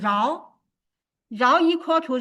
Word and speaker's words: rho: We use Greek letter rho, its pronunciation as rho. It is not P, it is rho.